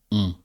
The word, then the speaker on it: on: add an n, we don't pronounce the n, but the n turns the sound of the o into a more nasal sound. So we say on.